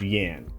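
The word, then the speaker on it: Jann: so a pair apparently it's supposed to be pronounced Yan and that's okay but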